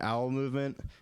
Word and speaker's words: Owl Movement: go by the name owl movement it rhymes with bowel movement and it's kind of